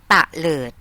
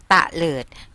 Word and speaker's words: เตลิด: อ่าน ว่า อะไร คะ เตลิด เตลิด คำ นี้ เป็น อักษร นำ นะ คะ อักษร กลาง นํา อักษร ต่ำ เดี่ยว เตลิด หมาย ถึง กระเจิด